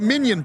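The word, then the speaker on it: minyan: Randy Fine told me he's working on quote unquote the Minion Project. They want to get 10 Jewish House Republicans. Although the various so funny that it's pronounced minion Jewish Republicans have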